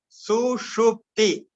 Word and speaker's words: Sushupti: Sushupti. May be difficult for you to pronounce. Sushupti.